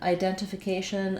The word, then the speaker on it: identification: So I either drop it, or if I do use it, identification or identification. If I do use it, I use a true T that's aspirated.